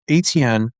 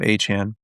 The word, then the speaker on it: Achane: I I Bro, he he literally said, "My name is pronounced Achane." And I'm like, all right, bro. So, Achane, by the way, not Achane.